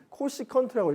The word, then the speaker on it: csc: 이 사인의 역수, 그러니까 사인 세타가 R분의 Y라고 했을 때 이제 CSC라고 하는 건 어떻게 읽냐면 코시컨트라고 읽거든요, 그죠?